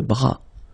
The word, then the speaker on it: bras: Same thing here. Final S not pronounced. Le bras.